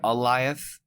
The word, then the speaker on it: Oliath: Yeah, the way that they pronounced it was like Goliath, the old biblical character, but remove the G and just say Oliath.